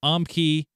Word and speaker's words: Umkey: This is from Lore Master Umkey, rhymes with Onkey.